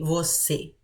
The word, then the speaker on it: você: you you can say we'll see and you're seeing the little hat on top of the letter e that makes the closed sound okay when we say